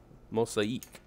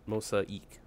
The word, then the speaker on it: Mosaeek: a new app called mostly eat I believe that's how you say it mosa eek mo sake I like mosaic but we're all gonna have different ways to say it but it's MOS AEK I'll show what you